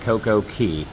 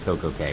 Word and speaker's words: Coco Cay: This is Perfect Day at Coco Cay, but day and K or Key are spelled the same, so it could be Perfect Day at Coco Cay. We looked it up, and apparently both pronunciations are fine.